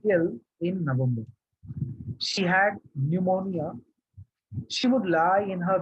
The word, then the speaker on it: pneumonia: ठीक है, सो and the interesting thing is that it starts with P, but we don't pronounce P, it is silent. Pneumonia lung disease है actually.